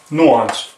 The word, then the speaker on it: nuance: This is how we pronounce it. It's a noun, nuance.